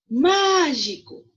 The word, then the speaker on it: mágico: Mágico. Então, má é a sílaba mais forte da palavra mágico.